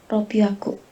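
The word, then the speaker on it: 六百: bacanya apa Yuvita? 300 sang biaku. Sanbiaku. Kalau 600 Ropiaku.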